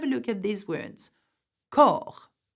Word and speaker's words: corps: Corps, which is a body. See, you've got an S, but we do not pronounce this.